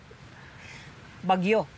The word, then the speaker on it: Baguio: Baguio. Baguio. Accent on the second syllable.